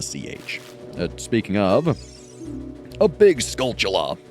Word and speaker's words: Skulltula: It is spelt Skulltula, but it is a play on the word skull in tarantula, which most people pronounce with a CH sound, as in chula, like, tarantula, but you could also pronounce it tarantula.